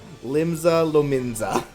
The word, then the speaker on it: Limsa Lominsa: Lim Lominsa Limsa Lominsa.